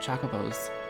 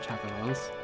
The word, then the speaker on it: Chocobo: probably play the mock chocobos in finals your pronunciation is wrong it's Chocobo it's not chocolates okay they didn't